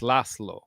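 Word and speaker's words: László: with him throughout life like my name Laz Llo lasslo actually pronounced properly. It's lasslo but uh good luck getting Americans to say that Americans.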